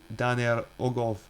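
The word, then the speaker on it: Dan yr Ogof: Dan Yer Ogov, Welsh pronunciation Dan Yer Ogov, located at the National Show Caves Centre for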